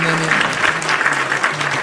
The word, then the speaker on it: NENE: I was hoping it was NENE. Not pronounced what? Not pronounced like a weird way. What would be a weird way? I don't know, like if you were white, you'd probably be like, it's Nen.